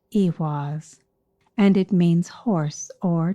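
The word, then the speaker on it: ehwaz: m as in mary its name is pronounced iwas and it means horse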